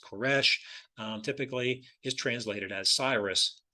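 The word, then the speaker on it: כורש: a Strong's Concordance the word here cores or pronounced koresh typically is translated as Cyrus throughout the Bible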